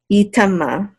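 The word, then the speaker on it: יטמא: And this aleph is silent. Yitama.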